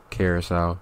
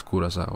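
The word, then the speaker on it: Curaçao: small island the Caribbean kurasa is the name in English it's carasa but the real way to pronounce it is kurasa okay I speak three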